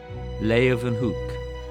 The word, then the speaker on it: Leeuwenhoek: L-A-Y, lay, u, then, they pronounce it with a V, Hoek, Leeuwenhoek. Anthony van Leeuwenhoek.